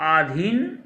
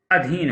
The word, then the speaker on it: अधीन: जैसे शब्द है आधीन, तो आधीन नहीं होता है, अधीन होता है।